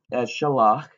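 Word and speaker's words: שָׁלַח: Now, if we're looking at in the PL, the two syllables are going to be shil and lach. Because that dagesh doubles the lamed, it makes it a geminate, you pronounce it in both syllables.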